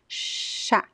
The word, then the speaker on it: chá: pronounce the word chá, there is no vibration of the vocal cords. Chá, but the word já is very voiced. It's a very strong sound, and all of the cords are vibrating when you pronounce já, já. Okay? But phonetically, they're very similar. The difference is that one is voiced, the other one is unvoiced. Muito bom, gente.